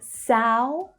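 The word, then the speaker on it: São: So we have Sao, Sao, that's the ow as in now vowel sound.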